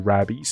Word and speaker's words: rabies: 成 rabies 还是 rabies 啊？哦，it's pronounced rabies because it rhymes with babies。